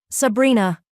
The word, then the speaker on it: Sabrina: Sabrina. He said it with the Sicilian pronunciation, rolling the R, making it sound like a caress.